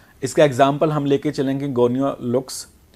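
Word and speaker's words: Gonyaulax: Next है बच्चों जो हमने डाइनोफ्लैजिलेट्स, इसका एग्जाम्पल हम लेके चलेंगे गोनियोलैक्स। इसको हम प्रोनाउंस करेंगे गोनियोलैक्स के नाम से, या गोनियोलैक्स।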